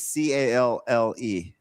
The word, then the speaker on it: calle: I think that's sitting here listening to you two try to pronounce Spanish words is hilarious. Oh, sorry, my favorite Puerto Rican. What is CALLE?